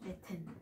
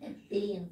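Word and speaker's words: ethene: 그럼 얘네들 ETHEN이죠. 에텐. 에텐. 콩글리시죠. 영어는 에틴. 이렇게 됐죠?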